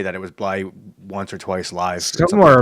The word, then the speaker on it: Blythe: His name is David Randall, and it's pronounced Bly.